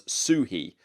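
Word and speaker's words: Suchý: They said that the phonetic pronunciation was Suhi, like SUE-he. So Vladimir Suhi, Vladimir Suchi, Vladimir Suhi.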